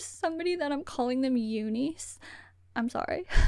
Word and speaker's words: UNIS: Also, I heard that Jelly when she's speaking English pronounces Unice Unice. And I just I don't know if that's what I should be saying or not. I'm sort of pronouncing it more of the Korean way.